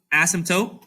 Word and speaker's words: asymptote: different words together um the trick to pronouncing it is that the p is basically silent okay the p is there but you're not really going to say it yeah and you're basically going to say asymptote okay it can be